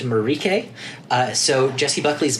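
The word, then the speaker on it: Mariche: I had said that Jesse Buckley's character is marish it is spelled Maurice her name is pronounced marike so Jesse Buckley's marike she is a very adversarial character she's like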